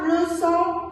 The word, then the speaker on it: leçon: Le CCD, il se prononce toujours S, même s'il est devant un O, ou bien un O, ou bien un U.